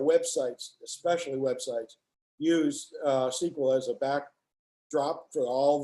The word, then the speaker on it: SQL: about SQL first and foremost um it it's pronounced SQL as in like in a TV show a